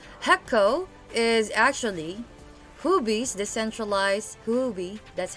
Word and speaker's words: Huobi: torum b21 capital heco is actually huby's decentralized huby that's how you uh actually that's how you pronounce it it's very hard so it's a